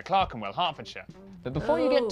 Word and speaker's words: Clerkenwell: E-R is pronounced R. Berkshire, okay, Clerkenwell, Highland, okay.